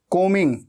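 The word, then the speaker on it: combing: कोमिंग को मिंग। ऐसे बोलना है। ठीक है? बी हमेशा साइलेंट होता है। स्पेलिंग में आता है। लेकिन बोलते वक्त उच्चारण में नहीं आता।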